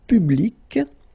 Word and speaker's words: public: Public. So you can see that you've got this final C and then you pronounce it, hein?